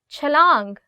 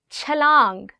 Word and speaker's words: छलांग: Chalang, jump. Chalang. Again in this word, it's ch.